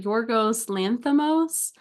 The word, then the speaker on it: Yorgos Lanthimos: I didn't watch the Oscars where I'm sure they pronounced his name like a bunch of times, but Yorgos Lanthimos.